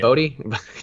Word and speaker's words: Bote: Bodie. Damn, there were three possible pronunciations, and I got two of the incorrect ones up front. But David Bodie, Bote, put an accent on there, Bote, and Wilson Contreras.